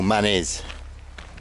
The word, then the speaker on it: Mannez: So we're coming up now to the long-abandoned Mannez Quarry, or Mannez. Depends how French you want to be, how you pronounce things around here.